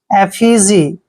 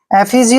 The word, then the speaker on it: effigy: Next word देखिए EFFIGY, ई को हमने यहाँ पे ए पढ़ना है, डबल एफ को फै पढ़ते हैं और आई को ई की मात्रा पढ़ते हैं और GY को जी पढ़ेंगे। एफिजी, एफिजी होता है पुतला, एफिजी पुतला।